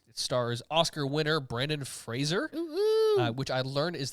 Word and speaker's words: Fraser: stars Oscar winner Brandon Fraser which I learned is how you pronounce his name it's not Frasier it's Fraser Fraser really makes sense yeah there's no I there Fraser Fraser he he